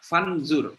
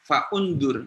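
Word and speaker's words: فانظر: Apollo uh full undur fandzur bacanya fandzur bukan Va undur tapi Kaifa Bagaimana muka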